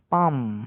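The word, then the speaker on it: palm: তারপর পিএএলএম, পালম নয়, পাম মানে তাল গাছ।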